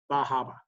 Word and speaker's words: Bar Harbor: listed right here okay i would pronounce that bar harbor and i pronounce it like that and i got corrected every single time and they would say oh you mean and they would say bahaba bahaba is bar harbor i don't know what